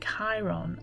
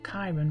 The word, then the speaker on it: Chiron: made me aware that Chiron and or Kiron rather and the North Node